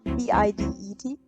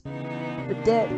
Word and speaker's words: bidet: it wrong the whole time whoops so it's spelled b-i-d-e-t i've been out pronouncing it as the dead not bidet oh my oh my god yeah i'm in